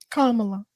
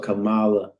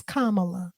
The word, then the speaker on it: Kamala: he had he tried to question kamala's um Kamala commas Kamas I call a Camala because you want to Blacken it up that's